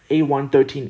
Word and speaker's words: A113: complete without the famous a113 easter egg pronounced a1-13 a113 refers to the